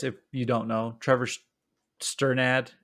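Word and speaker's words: Strnad: you don't know Trevor sternad I think is how you pronounce his name uh is his last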